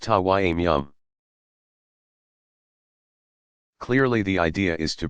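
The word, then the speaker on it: تيمم: They usually use tap water, but under peculiar circumstances even sand or earth is acceptable, in which case it is called tayammum, pronounced tawayyum.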